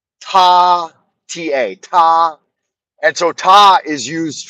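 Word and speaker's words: 他: In Chinese, they only have one pronoun and it's one pronoun, and in Chinese it's pronounced ta, ta.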